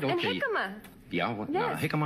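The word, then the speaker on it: jícama: And jicama. Yeah, well, yes. No, jicama, I'm not... It's spelt with a J. Okay. It looks like jicama, but...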